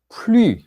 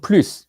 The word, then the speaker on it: plus: 자, 그런데 프랑스어에서 이 플루스는 플루라고도 발음이 돼요. S가 발음이 안 될 수도 있어요.